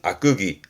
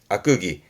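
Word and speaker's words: 悪戯: 발음은 악끄기 아끄기.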